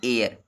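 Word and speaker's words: heir: यहाँ लिखा तो हेयर है, लेकिन इसको पढ़ेंगे एयर, एयर यानी महापौर जिसको कहते हैं, नगर पालिका, एयर मीन्स।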